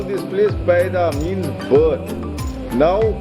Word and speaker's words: Paida: Now, the unique thing about this word is it is written Paida, but it is pronounced Paira. Paira means feet. You see, the Buddha when he was born, he landed on the ground on his own feet. So that is what it is written as Paida, means birth, and Paira means feet.